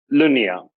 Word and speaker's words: Lunia: do you say your last name my pas Lunia noon yeah great I'm gonna do a brief